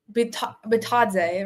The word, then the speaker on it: Bitadze: Well, what happened was Bitadze, right? That's the pronunciation.